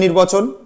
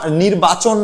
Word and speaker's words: নির্বচন: প্রথম স্টেপ সাধারণ নির্বাচন। সাধারণ নির্বাচন বানানটা খেয়াল করবে, চ দন্তের ন, চা, নির্বাচন নয় কিন্তু, অনেকে নির্বাচন বলে, নির্বাচন না, নির্বচন।